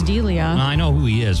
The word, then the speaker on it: D'Elia: I think it's Delia.